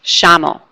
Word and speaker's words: llamo: In Argentina and Uruguay, they do an accent with the double L. Instead of saying a Y sound, they do a sh sound, like an SH, sh.